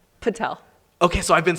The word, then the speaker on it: Patel: the right way to say your last name Patel okay so I've been saying it right yes